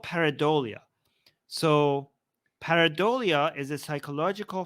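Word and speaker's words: pareidolia: what you're referring to I think it's called paradia is that how you if that's how you pronounce it let me just double check yeah it's called paradia so paradia is a psychological phenomena where the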